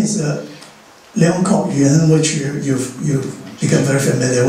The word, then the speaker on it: Leung Kok Yuen: So sometimes if you read the current literature, you would read Liang Jie Xian, which is the Mandarin pronunciation of the same name, Leong Kok Yuen, which is in Cantonese.